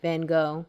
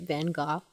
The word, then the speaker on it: Van Gogh: the relay, and there was a painting by Van Gogh, which I know I'm pronouncing the name wrong. But he pronounces the name right. He pronounces it Van Gogh.